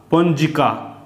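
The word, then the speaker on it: পঞ্জিকা: দন্তন্য পন বুরগিজ হ জি ক আকার কা পঞজিকা সেরকম এখানে দেখ হ্যা ঝ ইটাকে দন্তান্য ধরব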